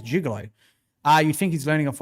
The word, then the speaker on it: juggalo: No, well, they say juggalo. I say juggalo, but I've been told it's jugalo.